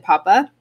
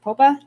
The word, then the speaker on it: Popa: us now is augustin papa sorry from saying your name wrong is it popa all right yep how's